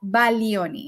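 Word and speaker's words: Baglioni: it's Italian it's called Bagon but iach a little bit of Italian actually the G you should not pronounce the G so it's called Balo if I want to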